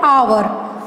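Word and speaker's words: hour: हम कैसे पढ़ते हैं, हावर नहीं पढ़ते हैं, इसको क्या पढ़ते हैं, आवर, आवर, आवर, ठीक है।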